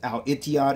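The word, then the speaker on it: الاتحاد: for each side Airways which literally is pronounced as Al etiod in the Arabic language the ETI title as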